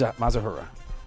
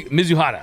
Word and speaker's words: Mizuhara: Muz Mazahura. Mazahura. There. Mizuhara.